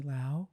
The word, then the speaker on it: Liao: I'm here with my guest today, Leslie Liao. Hello. Oh, I said it wrong. Me. No, Leslie keep Liao. that in. It's okay. It's Liao like meow. It's Liao like meow.